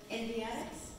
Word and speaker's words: Endiatx: Endiatx?